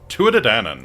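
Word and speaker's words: Tuatha Dé: A time when a godlike race, the Tuadan, Touadan. Okay, that's the proper pronunciation.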